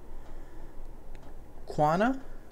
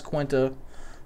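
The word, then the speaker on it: Quina: Quana? Is that how you pronounce it? People say I pronounce Quinta wrong because it hasn't got a T in it, which is obvious.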